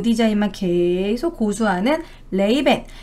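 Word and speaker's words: Ray-Ban: 그래서 이게 선글라스로 이제 유행을 하게 된 거고, 딱 요 디자인만 계속 고수하는 레이벤. 레이벤은 이제 우리나라 발음으로 라이방이 된 것이죠.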